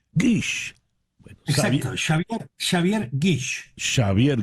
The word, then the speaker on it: Guix: Guix. Guix.